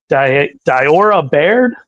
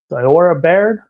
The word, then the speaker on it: Diora Baird: Diora Baird. Diora Baird.